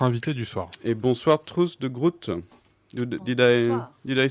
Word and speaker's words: Truus de Groot: Et bonsoir Truus de Groot. Did I spell it, say it well? Yeah, How do you say it? Truus de Groot.